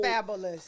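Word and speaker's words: Fabolous: Well, she was bigger than Fabulous was spelling fabulous wrong when he used to spell his name. F A B O L O U S. Like his name is Fabulous.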